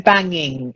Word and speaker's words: banging: And then banging. It's an ng sound in the middle, not g. Banging.